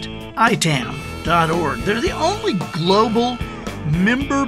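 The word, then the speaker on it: ITAM: by i-i-i-t am dot-org that's pronounced itan org they're the only global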